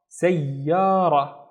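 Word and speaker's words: سيارة: Which means I have to pronounce this ya twice, once with this syllable and once with that syllable.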